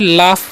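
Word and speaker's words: laugh: एल ए यू जी एच। तो इसे यहां पर जी एच का उच्चारण क्या होता है? फ होता है। इसे हम क्या पढ़ते हैं? लाफ पढ़ते हैं।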